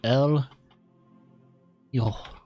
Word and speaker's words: El Hijo: this goes so el yo-yo that's how you pronounce it cuz the H is silent and the J is pronounced with an H and from Dungeons &